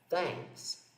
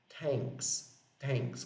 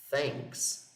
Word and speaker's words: thanks: É esse mesmo som que aparece na palavra thanks, que significa, talvez você conheça, obrigado. Olha só, ela não é pronunciada thanks, como se fosse um T aqui. É thanks, tá bom?